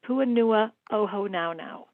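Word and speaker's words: Puʻuhonua o Hōnaunau: Puanua o Honaunau. That's right, Puanua o Honaunau Oh wow.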